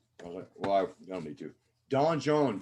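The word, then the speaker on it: donjon: i don't need to don john d-o-n-j-o-n is how you spell it in french and so all the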